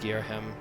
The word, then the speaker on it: Ghirahim: you call the surface you may call me gim it's pronounced geim in truth I very much prefer to be uled my full title Lord gear him but I'm not fussy